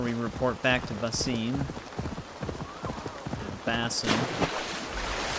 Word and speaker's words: Basim: Oh, how the blood will Let's go explore that other area now before we report back to Basim Bass. That's how they normally pronounce it is bass.